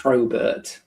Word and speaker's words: Probert: Robert, not Robert with a P. Not although that is the easiest way of getting people to spell it correctly. It's just it's Robert with a P in front.